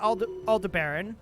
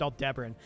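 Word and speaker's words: Aldebaran: have them go to Alder Baron aldebran I think it's pronounced all debran and we'll do it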